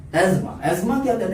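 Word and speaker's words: asthma: Number 3 एस्मा। एस्मा क्या कहते हैं? इसको बहुत लोग एस्थमा प्रोनाउंस करते हैं। एस्थमा नहीं है, ये एस्मा है।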